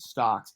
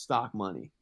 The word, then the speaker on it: stocmoney: because they think Stocks they pronounce it Stocks, and that fucking drove me insane because he's a legend, but my tag isn't fucking Stocks, it's Stock Money.